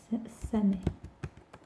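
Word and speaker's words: 鮫: Donc le requin, on le prononce samé.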